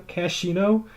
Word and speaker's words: Cashino: Cashino? I'm not sure how to pronounce that. I think it's just Cashino. Cashino. Is it bad that I legitimately did not notice that H until today when I was putting together the doc?